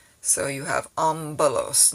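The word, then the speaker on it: ἄμπελος: the word like that it'll be like an mb not mp but mb so you have ambalos not ompulos so that's a pronunciation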